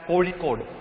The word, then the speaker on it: Kozhikode: Okay, so I know how to pronounce that. It's Kozhikode. Okay, you might not be able to pronounce that properly, but just try. Okay, it's Kozhikode. We call it Kozhikode and Calicut in English.